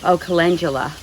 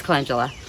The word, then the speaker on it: calendula: I have called it calendula for so many years, and I hear that everybody else pronounces it calendula. Everybody. And I pronounced it calendula because calendula means first day of the month. So I assumed it referred to the calendar. So that's where I got my pronunciation years ago.